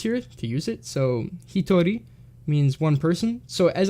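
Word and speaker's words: 人: So this one can be pronounced as hito, when used in hitori as one person or alone.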